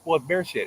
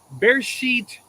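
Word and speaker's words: Beresheet: yeah, it's bear shit. It's the name of the rover. No, it's bear sheet is Hebrew for in the beginning. It's how you pronounce it.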